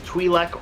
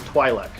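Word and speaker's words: Twi'lek: i'm gonna give you two pronunciations twilek or twilick i'll take either one two points for your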